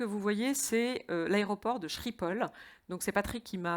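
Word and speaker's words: Schiphol: la photo que vous voyez c'est l'aéroport de shrippol donc c'est Patrick qui m'a appris la prononciation exacte de shrippol ce matin donc et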